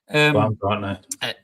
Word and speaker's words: Baumgartner: It was scored by, excuse my pronunciation, Christoph, is it Baumgartner? Baumgartner.